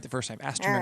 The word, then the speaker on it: Alstroemeria: Alstroemeria. No, there it is. You said it. I didn't say it. Alstroemeria. Did I say it a little bit? Astrolameria.